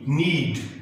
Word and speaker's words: knead: KNEAD नीड गूंधना या सानना, आटा वगैरह नीड कहा जाता है उसको, आटा गूंधने को हम कहते हैं नीड। और NEED ये भी नीड है, इसका उच्चारण भी नीड ही करते हैं, इसका मतलब है आवश्यकता।